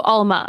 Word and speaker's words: Alma: Almond, but no on. So Alma.